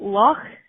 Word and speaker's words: Loch: And we've got Loch. So you have to kind of your CH at the end, so you have Loch Ness and Loch Lomond.